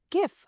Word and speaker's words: GIF: GIF. Hard G. It stands for graphics. The G is for graphics.